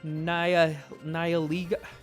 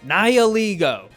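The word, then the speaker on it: Nihilego: I'd rather have a nia na niiligo. I forgot how to say it already. Battled Niiligo. Niiliggo. There it is.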